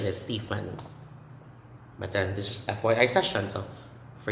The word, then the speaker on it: Stephen: setting okay this one is these names are pronounced the same way stephen stephen stephen stephen stephen so the ph is